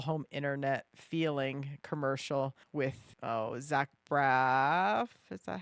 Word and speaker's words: Zach Braff: I loved his T-Mobile home internet feeling commercial with Zach Braff.